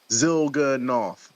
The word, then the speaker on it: Zilganov: Come on, man. That's like 3 syllables. Zilganov.